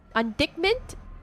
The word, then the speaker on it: indictment: don't stop IND D indictment is how you say it I'm going to say